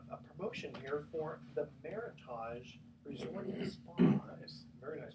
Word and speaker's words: Meritage: are my t8 GE combinations pronounced meritage like heritage I've said meritage but actually meritage so check them out